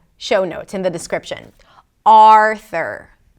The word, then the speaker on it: Arthur: Arthur. Primary stress is on the first syllable - AR-thur.